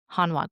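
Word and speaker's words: Hanwha: Let's learn about Hanwa a little bit and then I'm going to make some remarks about some shows you might want to watch.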